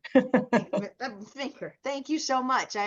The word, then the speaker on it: Veenker: Did I say it right? Kenter? Veenker rhymes with thinker. Veenker.